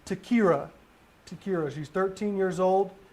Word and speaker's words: Ta-Kyrah: the suspect is navarro n-a-v-a-r-r-o kathy c-a-t-h-e-y 11 27 of 79 is his birthday one last time please pronounce the the the young lady's name takira tequila she's 13 years old last seen wearing